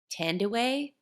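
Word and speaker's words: Thandiwe: I love the actress, I believe Tandaway is how you say her name? Oh, I said She Tandy Newton, but I don't Yeah, know. so she added the W back in because that's her, like, birth name, and so she was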